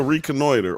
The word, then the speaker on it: reconnoiter: It's actually pronounced reconnoiter. What's a reconnoiter or a reconnoiter?